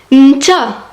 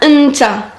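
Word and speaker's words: نتا: Tu dis nta ou bien nta. Dans des régions, ils prononcent même pas le E. C'est E-N-T-A. Nta.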